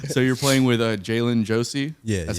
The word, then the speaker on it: Jai'len Josey: great it's great so you're playing with uh jalen josie yeah that's how you say her name yeah